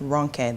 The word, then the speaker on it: Ronke: Or when I tell people my name is pronounced Ronke. The O is the long O. The E is the short E.